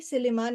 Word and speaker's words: Silliman: Uh, UP, Silliman and Iligan.